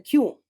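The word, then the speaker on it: 九: que tiene otro significado los dos en japonés se pronuncian kyu por eso se asume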